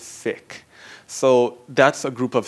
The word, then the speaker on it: Sikh: s i k h sick that's the pronunciation so I'm speaking to